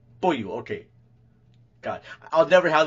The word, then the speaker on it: Beaulieu: Boyu, okay.